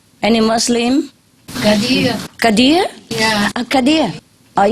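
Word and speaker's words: Khidr: d r any Muslim Kad Kad yeah a Kad are you a Muslim no no but you know Kad yeah I hav ever heard okay Kad with ey in the middle of it okay Kad mean is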